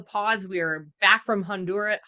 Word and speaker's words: Honduras: We are back from Honduras. How do you say Honduras? Nice, like the right way. Honduras? Honduras. Honduras? Honduras? Yeah. Yeah. Honduras? You got the tongue roll?